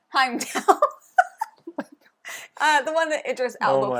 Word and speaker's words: Heimdall: So there's going to be different meeples played out that represent different gods, like Heimel. Is that not Heimdall. Heimdall.